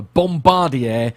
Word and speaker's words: Bombardier: Bombardier didn't I do I was expecting you to say bombarder B yes no I'm trying to be good I I've already you know in in the interest of of accuracy and trying to pronounce things correctly so it's a bombardier C Series yeah the uh